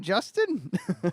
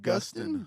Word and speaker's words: Gustin: Is it Grant Justin or Gustin? It's pronounced Grant Gustin.